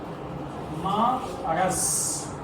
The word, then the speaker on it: مرض: جو صحیح تلفظ ہے وہ ہے مرض.